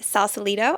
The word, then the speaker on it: Sausalito: Today we are in Sausalito. I pronounced that correctly, right? You did.